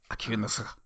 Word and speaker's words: Akiyuki Nosaka: Akiyuki Nosaka. As you say in Japanese. It's one syllable.